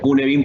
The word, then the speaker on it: Cynefin: Sí, y se escribe así Sainefin o Cinefin, pero se pronuncia Cunebin porque también así se pronuncia en galés.